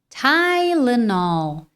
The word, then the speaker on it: Tylenol: Qual que é a pronúncia natural no inglês? Tyenol. Tylenol. Tylenol. Tylenol.